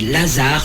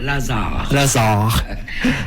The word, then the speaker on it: Lazare: on va pouvoir voir l'autre groupe qui est Lazare, c'est comme ça qu'on prononce. Oui, tout à fait, avec deux R, avec un Z et deux R. Lazare.